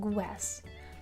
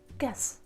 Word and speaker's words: guess: Sometimes my students pronounce g and w together like guess, but here you should just say g, guess, guess, guess.